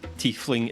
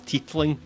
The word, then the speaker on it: tiefling: There's a wee scene where she mispronounces tiefling as teethling, and you call her out on it, and she gets dead embarrassed, and it's very cute.